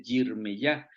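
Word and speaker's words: ירמיהו: Por ejemplo, Isaías en hebreo se dice Yeshayah, Jeremías se dice Yirmeyah, pero en el caso de Daniel sí es igualito.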